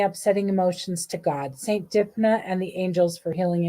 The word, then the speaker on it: Dymphna: You can also release any upsetting emotions to God, Saint Dipna, and the angels for healing and guidance. Okay. Dimfa. That's how you pronounce her name.